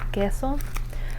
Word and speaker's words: queso: talked about earlier where when you have the u followed by the e, um you don't pronounce that u.